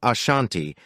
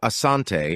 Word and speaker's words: Asante: combat the denira kingdom the variant name Ashanti emerged from British accounts attempting to transcribe the pronunciation of Asante as heard by the British eventually the hyphenation was